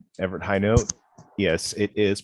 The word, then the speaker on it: Hinote: Well, my name, Everett Hinote. Yes, it is pronounced Hinote.